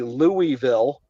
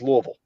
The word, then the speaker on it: Louisville: If you say Louisville or Lewisville, you ain't from here. There are very specific ways we say things. And that's just two examples. You know, it's Versailles and it's Louisville.